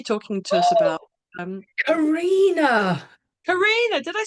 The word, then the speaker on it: Carinna: So on tonight's podcast, we've got Carinna, Well, I'm and we just going met to say although it is spelt Carinna, it's Carinna.